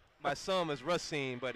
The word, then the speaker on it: Racine: pronounced my son is Racine but if you're from there like myself and DeAngelo you say racing they seem case product